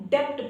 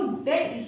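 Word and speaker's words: debt: हम इसको डेप्ट पढ़ेंगे। ठीक है? जो कि रोंग है। इसका जो सही प्रोनंसिएशन है वो डेड ही है। क्योंकि यहां पर ये जो लेटर बी है ये साइलेंट है।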